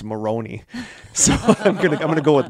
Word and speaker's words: Moron: Moron pronounced Maroney for name of my least favorite person.